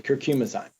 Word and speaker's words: Curcumizyme: something that's better than Advil and that's the curcum asme am I saying it right absolutely curcum ayme okay so it's the only natural anti-inflammatory that